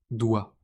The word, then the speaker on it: doigt: Prenons trois mots simples. Tant, beaucoup, doigt. Regardez toutes ces lettres mais écoutez la prononciation. Tant beaucoup, doit.